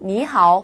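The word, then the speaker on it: 你好: 인사말이 됩니다 자 그런데 발음을 하실 때 방금 말한 것처럼 니 하 이렇게 하시면요 우리말로 할 때 안녕 하세요처럼 늘어져요 안녕하세요처럼 짧게 얘기해 볼까요 니하 니하네 이렇게 발음하시면 됩니다 누군가가 나에게 니라고 인사를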